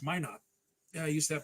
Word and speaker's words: Minot: I'm sitting here pronouncing it Minot. It's Minot.